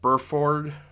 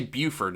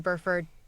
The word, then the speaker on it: Burford: So her real name sadly was Gretchen Troy Burford. God, I cannot pronounce that. I keep wanting to say Buford, and it's one of those names that you just have so much trouble saying.